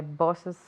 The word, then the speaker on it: boss's: Cuando ponemos la S sajón, tenemos que poner otra sílaba. Es el sonido is. ¿Cómo se dice, por ejemplo, el despacho de mi jefe? My boss's office.